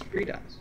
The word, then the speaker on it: FreeDOS: Hello, I pronounce FreeDOS as FreeDOS.